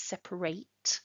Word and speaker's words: separate: If it's a verb, it is separate. So we have two pronunciations. Separate is an adjective, separate is a verb.